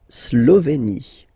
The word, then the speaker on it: Slovénie: La Slovénie. Remember, you get this accent aigu here, it's E. Slovénie. Final as usual, not pronounced.